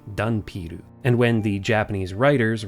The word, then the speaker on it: ダンピール: In Japanese, dhampir is pronounced dunpiru.